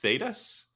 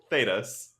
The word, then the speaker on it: Thedas: Thedas, I think is how it's pronounced.